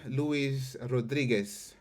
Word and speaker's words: Louise Rodriguez: so uh yeah welcome Louise Rodriguez I guess I pronounced that correctly with the is it Spanish yep right cool yes you got it yeah yeah so